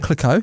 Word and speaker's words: Clicquot: Clicquot. Whatever. How do you say Veuve it? Clicquot. Clicquot, yeah.